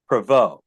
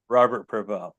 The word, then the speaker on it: Prevo: I was wrong on every other trying to pronounce it. You said it was Prevo. Correct. Robert Prevo.